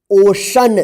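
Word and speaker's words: ocean: एन इसको क्या पढ़ेंगे ओशन देखिए यहां पे सी के बाद जो है ना ई ए है ना लिखा हुआ इसलिए सी श उच्चारण हुआ है तालव्य श ठीक एम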